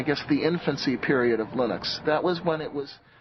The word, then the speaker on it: Linux: became and I really don't care how people pronounce my name but Linux is always Linux he developed a kernel and got it working